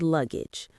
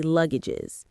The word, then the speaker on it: luggage: bags or pieces of luggage. Got it? That's a really useful grammar point. Let's pronounce it. The stress is on the first syllable.